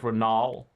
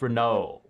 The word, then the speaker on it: Renault: Like Renault. Looks like Renaol, but it's Renault. Same number of syllables, I guess.